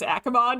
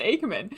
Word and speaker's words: Aman: milin Aman um I I haven't in the past pronounced it as aimon and I've realized it's actually pronounced Aman you'd think I know